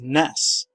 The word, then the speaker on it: NES: description the home console Nintendo confirms that the NES is pronounced as ness however there are certainly